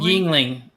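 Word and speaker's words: Yuengling: Is it Yingling? Yingling. Yingling. Yep.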